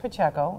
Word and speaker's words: Pacheco: but yes I that my name is pronounced PCO and Jordan and I